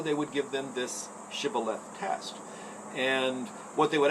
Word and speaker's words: shibboleth: frame they say no then say shibboleth the person the if they're an afraid might they would say sybil instead because they couldn't pronounce it uh right according to